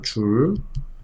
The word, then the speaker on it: 줄: 1줄. 줄이라고 읽어요. 줄.